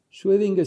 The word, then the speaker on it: Schrödinger: decir en ese tiempo schwedinger se escribe Así es una o con una diéresis que suena como oe en alemán en el año